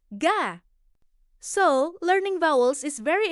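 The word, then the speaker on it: 가: For example, this is pronounced ga.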